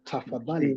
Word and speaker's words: tafadhali: But tafadhali Please.